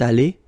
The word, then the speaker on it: allée: You don't pronounce it, so you get elle est allée, and then for the masculine form, il est allé. So aller is pronounced the same way, but still you have to write it.